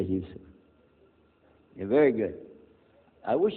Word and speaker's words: Jusuf: My name is Jusuf. Did you say Jusuf? Let me say Jusuf.